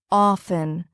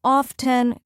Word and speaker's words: often: Word often. Wrong. Often, correct, often. The T is silent.